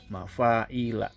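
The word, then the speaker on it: مَفَاعِيلَ: Nah, di sini juga bacanya adalah mafa'ila. Kenapa? Karena mafa'ila adalah termasuk ghair munsorif.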